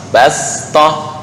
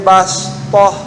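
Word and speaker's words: بسطة: Hampir tercampur dengan sod. Bastoh. Wazadakum fil khalqi bastah.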